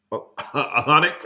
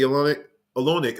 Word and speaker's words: Olynyk: Man, I keep getting his name wrong. Olynyk, I think that's how it's pronounced.